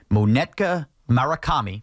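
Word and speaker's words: Munetaka Murakami: Brian Cashman needs to be in Japan and making sure that next year, Monetka Murakami, that's how you say his name, this slugger from Japan gets here.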